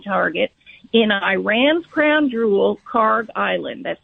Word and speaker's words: Kharg: And so we have a very interesting development, I think, overnight, This was the Karg Island event, and I know you referenced it briefly.